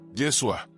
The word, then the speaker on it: Yeshua: Intenta pronunciarlo despacio. Yeshua. Siente como se forman las sílabas en tu boca, como el sonido vibra de manera diferente a Jesús.